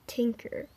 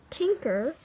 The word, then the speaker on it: Tynker: like what app is this this is called tinker so this you could draw you could draw